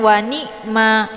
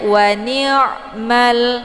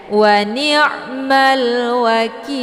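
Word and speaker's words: وَنِعْمَ الْوَكِيلُ: Jadi jangan langsung ditekan, jangan wa ni'mah ya. Itu bacaan salah. Karena ainnya posisi di tengah bukan di bawah ya. Jadi jangan dibaca wani. Kalau wani dia larinya ke hamzah. Tapi bacanya wa ni'mal ya. Malwa ada alif lam namanya alif lam al-qamariyah. Cara bacanya alif lamnya dibunyikan secara jelas. Malwa. Jadi alif lam tetap dibaca sukun ya.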